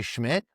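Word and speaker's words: Szmyt: his NFL debut, Andre Schmidt, something along those Schmidt, it's spelled like SC like it does not look like Schmidt.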